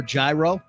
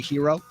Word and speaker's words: gyro: you say that one hero or Gyro right it's really hero prati uh abominable what